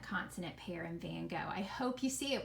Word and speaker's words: Van Gogh: we don't pronounce it van gaga its van gogh notice the gh is silent the oh is long and that's all you